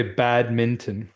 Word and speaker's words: badminton: call badminton I me it's such a weird word that you don't really pronounce it fully you know yeah like you don't hit that last you'll say bad Minon H but anyway sorry